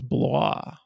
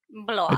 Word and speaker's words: Blois: But then I found out there's another podcast called Beers with Blois, which I pronounce Blois. Blois, like he's French. Yeah, I do the French pronunciation.